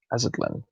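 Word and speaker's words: Aztlán: It's pronounced Aztlan.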